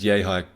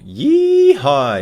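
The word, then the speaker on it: Yehi: Kozlov, by the way, we haven't mentioned him on this episode yet, refuses to pronounce Yehai correctly, opting for Yee-Hi instead, because his gimmick seems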